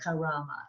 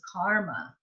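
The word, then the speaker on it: कर्म: and ma right karama but it isn't karama it's karma and so we have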